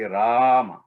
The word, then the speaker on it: Rama: with the word so when you say rama you say rama just elongate that a little bit in between then